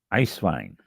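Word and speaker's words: Eiswein: Next one, ice vine.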